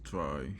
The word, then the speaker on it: trie: also known as prefix three a try pronounced as try or prefix three is a data structure used